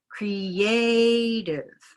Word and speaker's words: creative: So here's a cre, which is a green syllable. Creative. Try that. Creative. Yeah, so there's that idea of reduction, you know, down into schwa.